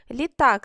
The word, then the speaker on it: літак: Літак. Скільки складів? Два склади. На який склад падає наголос? Літак на другий.